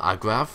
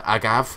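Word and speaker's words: agave: these ones as well Agra uh agav not Agra what the am I Agra there's no R in that uh agav I'm I'm pretty sure that t pronounced I could be wrong ah our first event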